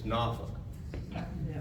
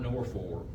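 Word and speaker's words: Norfolk: Virginia now Admiral Porter told me how to pronounce that it's nauk n f a WK n or n o k NAA it's not nor for if you say that they say you're not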